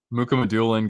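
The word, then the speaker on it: Mukhamadullin: I know it's actually different if you were to say it with like the correct Russian pronunciation, but I don't know. That's how the media pronounces it.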